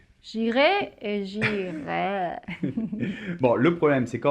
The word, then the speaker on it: j'irai: Mais bon, le futur, c'est j'irai, tu iras, il ira, nous irons, vous irez, nous irons.